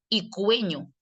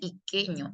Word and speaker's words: iqueño: Pero para que la u suene tiene que tener diéresis y tienes que decir icueño, pero este no dice icueño, dice iqueño.